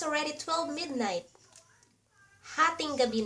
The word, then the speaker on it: hatinggabi: And if you wanna say "It's already 12 midnight," Hatinggabi na. Ha ting ga bi na "It's already 12 midnight," or you can say, "12 midnight na."